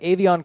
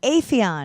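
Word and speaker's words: Aphion: And then in Claremont, we have Avion Crockett. Don't you say Afion Crockett? Oh, I think you're right. It is I Afion. have to say his name right. It's Afion. Avion Crockett.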